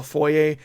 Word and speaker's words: foyer: pronounce it niche, and what I would call foyer, they call foyer. Like a hard. Like pronouncing the R. They take the French and they're like, nope, this is not a French word.